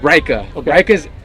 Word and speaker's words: Reika: you pronounce the name so the name is pronounced rika icelandic for rome okay cool r-e-i-k-a all right